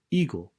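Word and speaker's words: 囲碁: The same words, Weiqi, in Japan is pronounced eagle, or in a more abbreviated fashion, it is simply called Go.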